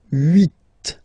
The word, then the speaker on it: huit: Then here, final T is pronounced, so huit, huit. Remember in French this H letter here, okay, doesn't exist phonetically, so we don't really pronounce it, okay? So if you listen carefully, you will only listen or hear these vowels at the beginning of the word.